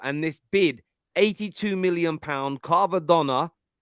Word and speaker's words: Kvaratskhelia: Google Translate's been helping me get it right, because I normally call him Kvaratskhelia, but his full pronunciation is Kvaratskhelia. I think that's how Google Translate is pronouncing it.